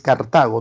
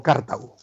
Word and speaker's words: Cartago: Y sí, estoy pronunciando bien, es Cartago, no Cartago.